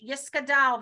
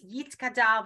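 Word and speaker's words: Yitgadal: hear them say the Kaddish, Yiskadal v'Yiskadash, even though it's Yitzkadal v'Yitzkadash. So if that is your tradition, then by all means, that's acceptable. Okay.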